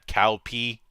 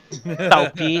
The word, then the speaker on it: Cao Pi: direction, and in fact screwed up Chinese pronunciation quite a bit, which is how you got Cow P. Cao Pi, because they didn't know that the C is pronounced as an S sound.